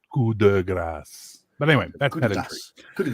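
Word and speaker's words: coup de grâce: That's how you say it. You don't pronounce the d so hard. Is that just in? It's just the Quebec way the word, French? it's just the way the expression works in French.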